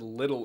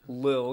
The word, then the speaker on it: Lil: of a little uzi i just said little uzi lil it's pronounced lil because small uzi he